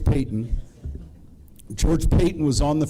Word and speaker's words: Payton: Richard freshman George Payton it sounds like it's spelled like Patton but George Payton George Payton was on